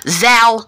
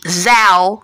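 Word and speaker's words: Zhou: festival is that the Chinese Emperors in the Zao Dynasty if I'm saying it right but it's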